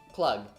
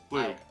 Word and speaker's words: Klug: Clug. Oh, Klug. Klug? Oh, that's his name? That's how it's pronounced? Yeah, that's how it's pronounced. Klug.